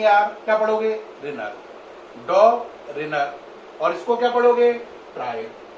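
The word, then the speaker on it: Döbereiner: tried क्या पढ़ोगे tried तो प्रोनाउंस क्या होगा पूरा डॉग रिनर ट्राइड एक साथ मिलाओ डॉग रनर ट्राइड एक साथ मिलाओ डॉग रिनर ट्राइड है ना डॉग रिनर tried is it okay क्या प्रोनाउंस करना समझ पाए अब इसमें इन्होंने कहा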